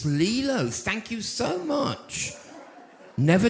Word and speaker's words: Lilo: Have I got pronounced the names right? No. Lilo. It's Lilo.